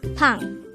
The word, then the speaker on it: 빵: this is pronounced as a one-syllable word pronounce it with me pong the word pang is